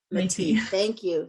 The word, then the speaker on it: Métis: territory of the Anishinaabe and I'm going to pronounce that one wrong. Help me out, Linnea. Métis.